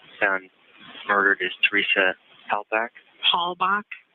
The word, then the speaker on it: Halbach: Halbach. Halbach.